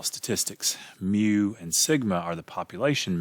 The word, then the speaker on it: mu: density curve we use mu the greek letter mu it's pronounced mu like mu mu and it's the